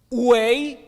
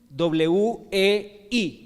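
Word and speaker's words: 危: La palabra china para crisis son dos caracteres que más o menos se pronuncian así: wei, W-E-I, wei, hi. Son dos. El primero, W-E-I, wei. ¿Ok? Y el segundo, hi, J-I.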